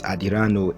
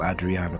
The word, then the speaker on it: Adriano: hilariously involved her not being able to to pronounce his name properly as she would often refer to him as adiranu instead of Adriana with the first few things I've said here